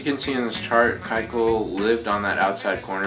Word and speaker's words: Keuchel: and 2015 that he managed to get people to pronounce his name Keuchel instead of Keuchel.